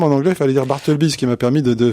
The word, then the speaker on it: Bartleby: chose en lui de Bartleby. Est-ce que je prononce bien Bartleby? Bartleby. Ouais. En tout cas, j'étais content que ce soit Bartleby parce que j'entendais beaucoup de gens dire Bartleby. Ah oui.